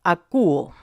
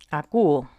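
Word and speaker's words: ἀκούω: la o larga y todo seguido se pronuncia a quo a quo vale bueno Qué significa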